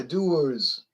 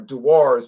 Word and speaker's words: Dewar's: You go to the Super Bowl party and bring Dewar's. Oh yeah, Dewar's. Or Dewar's, people pronounce it Dewar's.